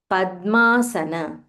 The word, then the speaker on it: पद्मासन: महालक्ष्मी नमोस्तुते let's move on to shloka seven पद्मासन there is this is ध्व Padma पद्मासन there